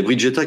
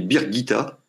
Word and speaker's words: Birgitta: Il y a Brigitta qui dit que alors, je pense qu'on dit Birgitta. Il me semble qu'on dit Birgitta, qu'on prononce en tout cas Birgitta.